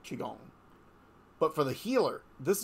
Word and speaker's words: Qigong: lot of Reiki Masters who have also studied kigalton sorry Qigong I am working on that as pronunciation thing that's one of my things I'm